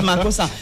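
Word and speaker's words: makossa: C'est makosa c'est ça ressemble au makosa et ça se prononce makosa mais les gens ne savent pas.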